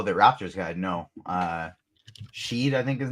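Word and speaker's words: Shead: lineups uh oh the Raptors guy no uh Sheed I think his name is no I'm not playing him but it is spelled she but pronounced shed there you go shed uh Houston Legend that's right yeah Houston C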